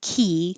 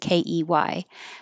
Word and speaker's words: quay: So you have three options. The first one sounds the same as key ke y. So key or k or with a w quay.